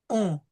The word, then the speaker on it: un: We have the UN, so the U is going to be nasal. Ami, no S. Okay. Son, non, on, ami.